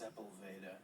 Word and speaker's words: Sepulveda: How do you pronounce his last name? I believe it's Sepulveda. Yes, John Sepulveda from Feast